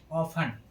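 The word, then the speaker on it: often: हो टी इ एन हो तो टी का उच्चारण नहीं होता है जैसे ऑफन इसको ऑफन नहीं पढ़ेंगे इसको पढ़ेंगे ऑफन ऑफन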